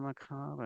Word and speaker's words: macabre: I'm one of the people who doesn't pronounce the R in macabre. I'm just saying. Not everybody. I believe anyway. that's the correct way to say it. Well, it's the French way of saying it.